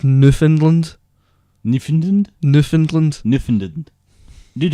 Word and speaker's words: Newfoundland: also by the way it's not actually called new phone is Newfoundland Newfoundland Newfoundland Kniffin didn't